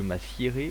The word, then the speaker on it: m'assierai: avec le verbe asseoir, qu'il y a deux façons de l'écrire et deux façons de le prononcer. Je m'assierai ou je m'assoirai. Voilà, vous pouvez choisir une des deux, les deux sont corrects.